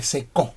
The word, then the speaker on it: secó: Salmo 22:15 dice, como un tiesto seco, mi vigor, como un tiesto se secó, debo decir, corrijo, como un tiesto se secó, tiene acento en la O, como un tiesto se secó mi vigor y mi lengua se pegó a mi paladar.